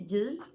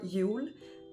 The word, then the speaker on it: Jul: We say Jul or Jul or Jul. There's many different pronunciations.